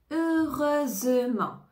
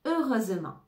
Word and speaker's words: heureusement: a pas eu d'accident ne prononce pas le H heureusement ou encore heureusement nous